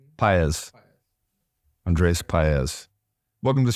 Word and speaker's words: Paez: Paez. Paez.